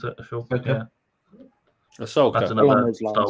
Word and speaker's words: Ahsoka: Is that how you pronounce it? Ashoka.